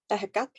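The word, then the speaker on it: Ehecatl: That's how you say it in Nahuatl, ahekak.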